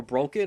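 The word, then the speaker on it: Brocken: it was broken okay if you see a CK that means the vowel that comes before it needs to be pronounced very short so it's broken its broken it needs to be short so and that is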